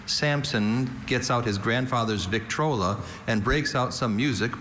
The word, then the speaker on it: Victrola: Victrola is the only pronunciation for this trademark.